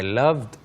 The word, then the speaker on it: loved: But the way we pronounce it, the D is very, very soft.